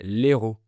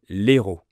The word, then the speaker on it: Hérault: Attention, c'est pas le même mot que le héros d'un film. Si je dis le héros d'un film, le héros d'un livre, le H bloque l'apostrophe, donc je garde l'article le. Mais le département français s'appelle l'Hérault.